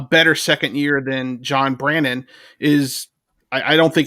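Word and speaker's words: Brannen: compare that to john brennan's second year um he that's what i said you made it sound like the way that people spell it on the twitter oh sorry like brennan so john brannon uh first win lipscomb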